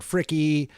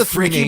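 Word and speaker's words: Fricke: I love these guys, Reggio and Fricky. And Philip Glass. You really say it Fricky, by the way? That's like actually how you pronounce it? It's not Ron Frick?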